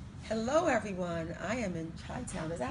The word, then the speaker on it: Chi-Town: I am in Chi-Town.